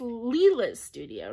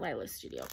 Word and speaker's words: Leela's Studio: a colorado world that it is leela's studio not lila's studio um she said and i can't remember who she said but somebody actually called talked to the designer and said how do you say this and was told leela so i'm sorry that